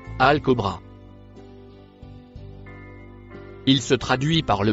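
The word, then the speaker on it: الكبرى: Le mot en vert se prononce Al-Kobra.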